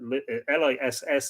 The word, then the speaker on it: lios: of the lish and the liss it's spelled here lios is an old irish word for a fort they spoke with rash